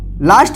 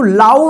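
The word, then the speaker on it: low: देखिए एल ओ डब् इसको क्या पढ़ेंगे लो इसको लाओ नहीं पढ़ेंगे क्या पढ़ेंगे लो देखिए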